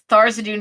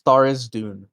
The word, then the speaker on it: Tharizdune: Jujubee, Yeah, he's either pronounced Jublex or Zuiblex. but also like Tharzadune is like Thurizadune. Yeah, Tharizdune. Yeah, and I was just like, nah, Tharzadune's Oh yeah, better. it's Tharizdune.